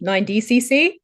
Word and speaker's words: 9DCC: So tell us about your luxury fashion house, 9DCC. I'm saying it correctly, 9DCC.